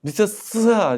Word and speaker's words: 미타스야: 후추 쌤, 발음 좀 제대로 해 주세요. 뭐해도 미타스야입니다. 미타스야 그니까 스야 스야 똑같은 거 아니에요.